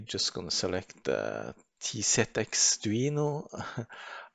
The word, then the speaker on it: TZXduino: going to select the t set x duino i probably said it wrong i said tcx but t set x and then now it